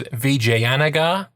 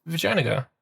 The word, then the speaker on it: Vijayanagar: Because I was initially pronouncing it as Vijayanagar. And he's like, "Nah, mate, it's just pronounced Vijayanagar."